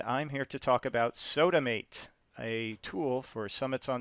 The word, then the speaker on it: SOTAmāt: of these things into this new tool called sodomate and it's spelled funny because it's actually a phone number and that's the seven digits of the phone numbers soda mate and I didn't have an e to make